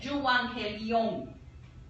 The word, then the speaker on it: euangelion: La palabra griega viene de evangelión y se pronuncia euangelion.